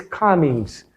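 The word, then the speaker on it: Cummins: Oros le dicen en castellano cumins, no cumin escribe cumin, pero la pronunciación es comins.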